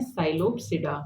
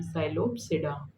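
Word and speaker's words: Psilops: है तो इसे हम बेसिकली फोर क्लासेस में स्टडी करते हैं क्लास वन जिसे हम बोलते हैं साइलोप्स पी साइलेंट है इसमें साइलोप्स ठीक है क्लास टू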